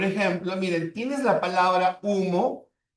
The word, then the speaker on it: humo: Ya, por ejemplo, miren, tienes la palabra humo y sumo. Humo y sumo. Ya. Humo y sumo. Ahora, dense cuenta, como la H no es un fonema, por lo tanto no va a contar.